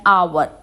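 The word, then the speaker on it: hour: को यूज़ करते हैं एन is also used before the word beginning with silent H एन को हम साइलेंट एच के साथ भी यूज करते हैं example an आवर an honest girl an ऑनर आप देखेंगे कि इसमें भी ऑ की ही साउंड आ रही है वाल साउंड आ रही है दैट्ची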